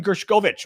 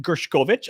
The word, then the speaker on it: Gershkovich: all right um Wall Street Journal reporter Evan gershovich which I guess that's the way you pronounce it gershkovich I was saying gershkovich gershovich um who is